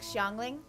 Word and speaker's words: Xiangling: localization thing because we we pronounce the x as a shi in people's names too like xiangling and xinyon since orobashi's